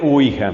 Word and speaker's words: Ouija: Pero se pronuncia usualmente Ouija.